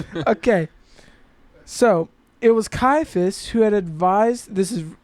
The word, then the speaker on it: Caiaphas: How how did you pronounce the name? Oh. Uh, I think it's Caiaphas.